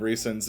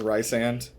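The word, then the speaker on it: Rhysand: let you know that Lindsay hates your pronunciation of Reeson's name so much that every time you say it, she like bangs her hands on the steering wheel. Ian's pronunciation? Yeah, where he says Rysand.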